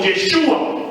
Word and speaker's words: Yeshua: 7:39, donde vemos que el nombre ya se pronuncia como Yeshua, personajes que no eran el Señor Jesús, sino